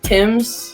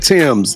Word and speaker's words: Tems: I think they're how you say it is Tim's, TEMS. KT, I heard of that Tim's.